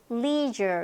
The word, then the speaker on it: leisure: 그다음에 레저 아니고 전에 한번 했었죠. leisure 이렇게 발음이 될 겁니다.